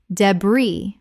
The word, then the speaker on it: debris: Debris, British, or debris. The S is completely silent in both varieties.